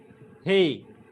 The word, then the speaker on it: He: Hey. H in house.